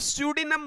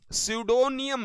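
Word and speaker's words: pseudonym: है, बिल्कुल, और स्यूडिनम, पी यहां पर साइलेंट होता है तो स्यूडिनम बोला जाता है, ये स्यूडिनम, स्यूडोनियम नहीं, स्यूडिनम बोला जाता है, ठीक है।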